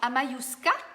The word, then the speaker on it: Amayuska: Bonjour Amayuska, dis-moi est-ce que j'ai bien prononcé ton nom, Amayuska? Parfait les lundis, Lynn, oui, hein, je pense que ça pourrait être bien.